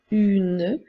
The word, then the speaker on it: une: pas besoin de dire une lettre E est là pour nous permettre d'entendre la lettre N donc elle donc nous pouvons dire une et non une comme dans une fille